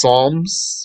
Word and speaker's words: Psalms: they have the zabor that's Psalms with a silent p and the rest of